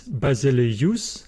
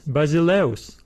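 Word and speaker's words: βασιλεύς: letter in the diphthong but we do not pronounce this word as basily use basily use no we pronounce it as basileos basileos another example is the word paulus we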